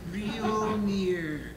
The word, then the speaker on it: Realnir: Realnir, like Mjolnir. Only different. Only different.